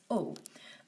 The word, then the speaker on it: aux: down to an aux oh and this one's actually pronounced just like the blue so the blue and the green are both pronounced Oh finally with the orange